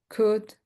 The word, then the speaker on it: could: Okay, so you see wood would chalk could chalk could chalk would and could we don't pronounce the L.